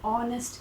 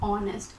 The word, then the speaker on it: honest: we pronounce it as honest and not honest so the h here is always silent so we get this o sound in the beginning which is a wobble